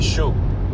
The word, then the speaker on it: chaud: The word chaud is pronounced like the English word show, but you stop right before you start closing your lips for the W.